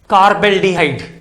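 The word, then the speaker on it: carbaldehyde: CHO group on the cyclic ring और aromatic ring, then it is pronounced as कार्बल्डिहाइड, कार्बल्डिहाइड।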